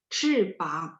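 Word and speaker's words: 翅膀: 翅膀, b baca p ya.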